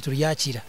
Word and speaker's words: Turyakira: Okay, we bali muno omwanjuzi wa program eno Orubazo ankoku babagambire ninyowe Turyakira of course wenko mwanjuzi tamanyire pronunciation akunyeta Turyakira kionka nyoba nta Turyakira kimesa nti